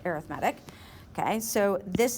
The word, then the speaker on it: arithmetic: Looks like arithmetic, but it's pronounced arithmetic.